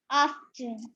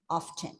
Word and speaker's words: often: You can pronounce this word either with a silent T or without a silent T.